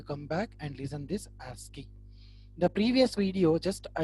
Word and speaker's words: ASCII: It is pronounced as ASCII, ASCII.